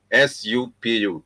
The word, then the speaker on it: supu: S-U-P-U.